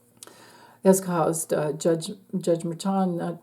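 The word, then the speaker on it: Merchan: caused uh judge judge meron or merchin to um or merchin is actually how you pronounce his name he's Colombian um but he let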